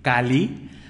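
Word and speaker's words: calli: El día 3 es Kali, la doble L se pronuncia como L, Kali, casa, y nos está indicando el fabricar una casa para el ser.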